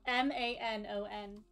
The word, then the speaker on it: Manon: 100 years, and yet Manon wished she'd had more time.